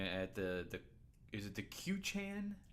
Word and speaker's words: Quechan: So Aaron and I are staying in Winter Haven, California, at the is it the Quechan? Quetzan. The Quetzan Casino? Quetzan. But it's spelled Queechan.